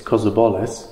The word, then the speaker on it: Kozobolis: I mispronounced Alex's surname so many times on our first visit to Orkney. It's Kozobolis, right. And I spent the whole week calling his name wrong.